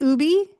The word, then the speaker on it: UBI Global: Is it Ubi?